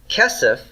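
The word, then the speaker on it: כסף: word kesef haven't you kesef is the word for silver or money notice it's got first syllable stress cast sus casas and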